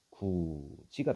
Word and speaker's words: 굳이: 그래서 발음이 어떻게 되는 거냐? 구지가 된다. 뭐가 된다고? 구지.